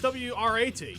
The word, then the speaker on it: Wrat: It's WRAT. No, it's okay, but I just thought it was funny because it spells wart. Yes, and this spells rat with a silent W.